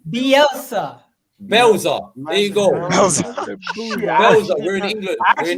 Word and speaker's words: Bielsa: You pronounce it Belza. You get what I'm saying, bro? If I was in, where's he from? Argentina. If I was in Argentina, maybe then I would pronounce it the way they pronounce it, innit?